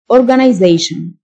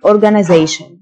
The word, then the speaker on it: organization: منظمة، organization، T-I-O-N تنطق شن، organization. وده النطق البريتش. النطق الأمريكان، organization، organization. ينظم، organize، organize.